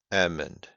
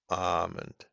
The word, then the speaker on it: almond: Almond, almond, almond. The the two triangles I have learned today from one of the students means that this is a short A. Ah, almond.